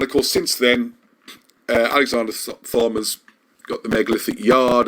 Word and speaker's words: Thom: Not Thong. Sorry, Thom.